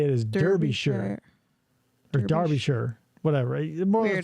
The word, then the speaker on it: Derby: English do this too if it's Derby d e rby y is Darby so D like if you were to read it would say Darby Shire but you say it is Derby or Darby sure whatever